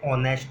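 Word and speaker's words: honest: देखो मैंने लिखा एन ऑनेस्ट मैन, ये एच यहाँ पर साइलेंट है।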